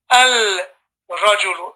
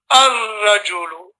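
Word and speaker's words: الرجل: You don't have to say al-rajulu. It's more difficult to say al-rajulu than it is to say ar-rajulu. Just say ar-rajulu.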